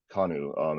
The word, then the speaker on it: Kanu: I have Mr Paul kanu as when I'm pronouncing your last name writers is kanu or kanu it's both you know or it doesn't matter okay whatever it's my